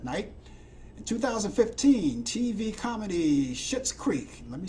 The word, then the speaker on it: Schitt's Creek: In 2015, TV comedy Schitt's Creek. Let me spell that for you.